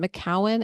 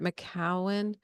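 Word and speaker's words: McKeown: to say her name it's is it maowen m c ke o u w n or something like that Margaret maowen I think um she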